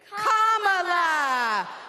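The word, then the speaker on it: Kamala: do you pronounce it first you say comma like a comma in a sentence then you say la like la la la la la put it together and it's 1 2 three comma all right so let's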